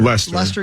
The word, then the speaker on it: Leicester: I forget how you say it, but It's like Lester. Leicester.